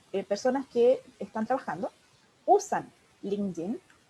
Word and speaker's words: LinkedIn: que es LinkedIn, o más conocido como LinkedIn, pero la pronunciación en inglés es LinkedIn, que es una red social laboral que nos ayuda a desarrollar algo que se llama personal branding.